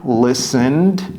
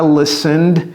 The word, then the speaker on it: listened: Résistez l'envie de prononcer littéralement comme vous voyez les syllabes.